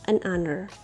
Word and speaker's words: honor: with word hour and honor because the consonant H is silent so we use an article here an hour an honor now let's move on